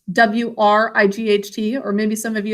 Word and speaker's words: Wright: very good absolutely their name is spelled like this w-r-i-g-a so it's like your right hand but with an with a w at the front tag do you love